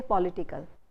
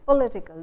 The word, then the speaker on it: political: You don't say political, you say political. The stresses shift from pol to it.